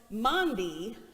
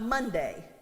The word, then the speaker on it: Maundy: The pastor in me took over in that moment, and I said, actually, it's pronounced Maundy, not Monday.